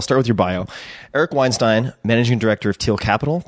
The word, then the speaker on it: Weinstein: you say your last name I think it's Weinstein Weinstein I agree that's the more dramatic way to